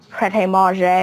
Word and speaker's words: Pret A Manger: it's a French restaurant so you pronounce it I think it's pret ma or something like that but it's spelled pret